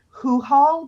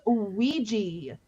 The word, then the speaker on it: Ouija: And then the classic, is that a hoo-haul board? It's pronounced Ouija.